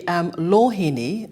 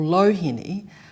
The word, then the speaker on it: Loheni: Now, your surname, Lohini, a couple of different pronunciations. Can you tell us how that comes about? Well, actually, Lohini or Lohini are both actually correct.